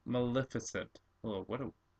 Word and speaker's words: Maleficent: melis maliss how do you say her name Maleficent Maleficent oh what a it's a great name but